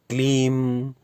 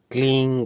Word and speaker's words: क्लीं: याद रखिए, यहाँ पर इस मंत्र का उच्चारण, इस बीज मंत्र का उच्चारण जब करेंगे इस विधि में तो क्लीम या क्लींग ना करके क्लींग करेंगे। क्लींग क्लींग यानी इंग इंग इंग, बड़ी ई पर बिंदी